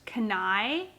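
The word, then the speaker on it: Kenai: this is in the i think it's pronounced kanai k-e-n-a-i colorway and i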